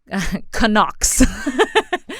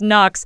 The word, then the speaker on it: Knox: so i was always canucks they didn't know how to pronounce knocks but i was always canucks and so i never